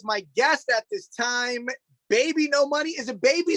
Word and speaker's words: bbno$: radio station that said pronounced BB No Money, and I was like, I'm pretty sure it's Baby.